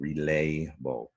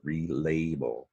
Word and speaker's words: relabel: And down below, the stress is on lay, relayable. That syllable is an open syllable, L-A. That's why that A is a long sound.